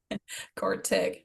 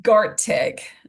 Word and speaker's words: Gartic: Cortic. Thank you, Discord. Or wait, say that again, Quartic? Gartic. So it's like so it's spelled Gartic if Okay. my accent is getting you.